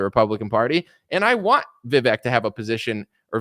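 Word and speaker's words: Vivek: party and I want vivec to have a position or V or however you say it rhymes with snake and cake or whatever you know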